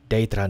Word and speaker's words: Daedra: Das ist so ein bisschen schwierig. Es ist kein Ä und auch kein AE. Es soll so ein Daedra sein. Das, finde ich, ist die richtige Betonung von Daedra, Daedra.